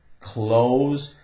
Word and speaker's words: close: The O is long because of the E. The E gives it a long O sound.